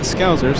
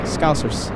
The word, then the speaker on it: Scousers: So, uh, Scousers. Yeah. Uh, the S, not uh, pronounce the S, not Z. Scousers. Scousers.